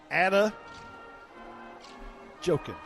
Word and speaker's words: Adejokun: So it's Ada Jokin. Ada Jokin. Ada Jokin. Ada Jokin. Ada Jokin. It's spelled Adejokun.